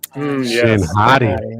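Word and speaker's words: Shin Hati: Uh Shinhadi. That's the correct pronunciation by the way.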